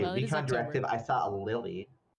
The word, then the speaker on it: Lille: But this is the Lily Regionals. And it's pronounced Lily, but the Liy Regionals that card was just a warm up.